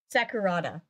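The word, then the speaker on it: Sakurada: Haruna SEC oh God I'm gonna say it wrong Sakura sakurata there we go my brain did not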